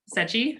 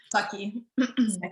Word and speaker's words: Secchi: Amelia, I'm pretty sure I'm pronouncing that wrong, but is Secchi? Is that right? Secchi. Okay, Secchi disc.